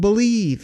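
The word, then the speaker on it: Bleav: That's called Believe, and that's spelled B-L-E-A-V in Lions.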